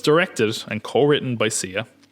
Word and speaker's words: Sia: have music by sia i pronounced it i put it into psy earlier which i always did apparently it's been on sia which i learned only from